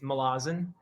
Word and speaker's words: Malazan: It's fine, however you say it, but I believe the way Erickson would say it is Malazan.